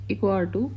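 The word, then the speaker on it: EcoRI: बोलते हैं that is इको आ2 it produce pronounce इको आ2 an enzyme of restriction modification आरम naturally found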